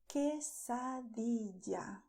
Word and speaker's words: quesadilla: And after that, you have quesadilla or quesadilla. And here you will pay attention that the letter U is silent.